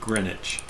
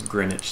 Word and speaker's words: Greenwich: would be zero because greenwich sounds very english sounds like a very sure greenwich is not actually in yeah greenwich where is is the fact that it has a silent w it is i think